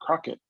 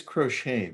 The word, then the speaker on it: crochet: okay is that crochet or crockett uh i would say it's crochet but you know michelle